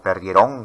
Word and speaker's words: perdieron: La palabra caminaron o la palabra perdieron no son palabras agudas porque no se pronuncian en el discurso oral como perdieron, caminaron. Entonces, si son palabras graves, porque la mayor fuerza de voz está en la penúltima sílaba, ¿por qué la mayoría